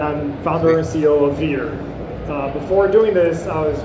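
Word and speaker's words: Veere: Involved, but we changed the name to Veer. We're now Veer. Veer? Can you spell it?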